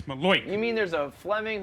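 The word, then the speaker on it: malocchio: He says Manoink, and it's Maloik.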